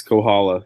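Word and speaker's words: Kohola: sure will mispronounce them so it's can I pronounce one of them you can try Kaa Reef restaurant and Social Club yes Kohala yeah that's that's the right one so oneu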